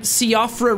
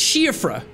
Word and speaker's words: Siofra: in this place and I kept calling it Siofra River. And somebody was like, Jack, taking pride in Ireland and then pronouncing Siofra wrong.